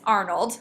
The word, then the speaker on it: Arnold: It's Arnold, so the stress is on Arn.